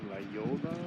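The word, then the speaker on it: La Jolla: This place is called La Yola, or it's spelled Jolla.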